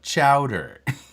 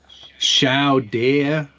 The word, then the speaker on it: chowder: New England clam chowder. Yes, I remember now. Chow Dare. Shouty. Chow Dare. Shouty. It's chowder. Say it right, Frenchie.